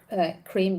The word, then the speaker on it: Crimea: own Island back the Crimea cream by the way local pronunciation on the Black Sea they're trying to